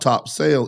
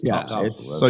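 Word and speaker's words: Topsail: it's Rich lands but it's not top sale it's top so yeah I I I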